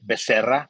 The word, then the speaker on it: Becerra: You can say it Becerra, which that's the right way to say it.